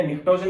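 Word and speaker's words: pnictogen: इस ग्रुप को हम नाम देते हैं निकोजन। निकोजन लैटिन वर्ड है। निकोजन का मतलब या निक्टोजन भी इसको नाम दे सकते हैं हम। पी साइलेंट रहता है।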